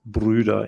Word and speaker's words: Brüder: Bruder in the singular versus Brüder in the plural.